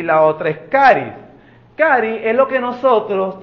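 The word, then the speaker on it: χάρις: griego no es neumático sabe cuál palabra es caris o se escribe charis lo que nos sea h o Che caris o carismas esas son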